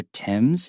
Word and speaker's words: Thames: And also another thing, River Thames, if you feel like that's really difficult to pronounce, just think of it like the name, T-I-M, and just adding an S.